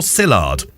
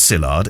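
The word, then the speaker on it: Szilard: about um pronunciation was Paul sard well I assume it's sard it's s z i l a r d there's a silent letter in there Kevin what do you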